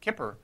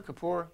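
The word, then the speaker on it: Kippur: Um he even established apparently Yam Kipper is I've heard of two pronunciations. Kipper Kapoor. Yam Kapoor. Kapoor.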